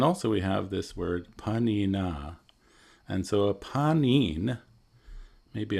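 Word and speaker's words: pāṇinā: we have this word panina and so a panin maybe I'll write it here um p a n i n but it should have a long a aan this is another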